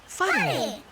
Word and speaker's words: whare: Whare. Can you tell me the sound the word begins with? F. Ka pai, f.